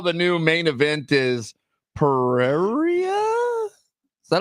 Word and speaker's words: Pereira: is it right here spell it yeah yeah p e r e i r a Pereira yeah Pereira yeah yeah yeah yeah